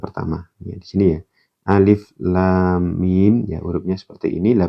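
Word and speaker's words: الم: Kalau ada bendera, ingat nanti dibaca dipanjangkan.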